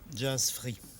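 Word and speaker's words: Jazz Frit: Jazz Free, Jazz Free. Mais comment est-ce que cela s'écrit? comme ça se prononce, F-R-I-T. C'est un jeu de mots.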